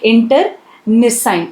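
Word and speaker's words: internecine: इसका प्रोनाउंसिएशन कैसा है, इंटरनिसाइन।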